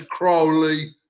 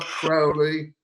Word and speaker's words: Crowley: His name's Crowley, not Crowley.